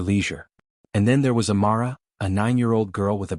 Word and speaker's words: Amara: the boarding pass and attempted to pronounce it. "Amara. Go ahead." It wasn't even close. Amara kept her smile, kept her composure, and gently corrected her. "It's actually pronounced Amara, ma'am."